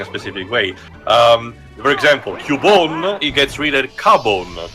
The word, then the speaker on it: Cubone: Given how Nintendo definitely have not corrected the actual pronunciation of Cubone, which has very much been a thing in